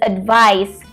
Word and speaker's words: advice: they're not the same the first one is advice with C but it should be pronounced with an S sound it is a noun